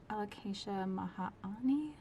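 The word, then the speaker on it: Alocasia maharani: A Dischidia million little hearts, my Alocasia mahani, I believe is how it's pronounced.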